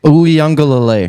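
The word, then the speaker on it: Uiagalelei: Uyunglele. Yes, correct. I even have the pronunciation on here so I wouldn't mess it up, and I still did it.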